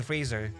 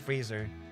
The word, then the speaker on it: Fraser: The same thing as Brandon Fraser. Not Fraser, but Freezer.